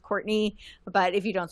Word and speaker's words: Courtenay: Uh, it it's pronounced Courtney, but if you don't spell it correctly, you'll have difficult time finding me.